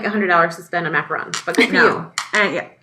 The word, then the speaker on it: macaron: So anyway, I had homemade pizza tonight, and what I was saying about the macarons.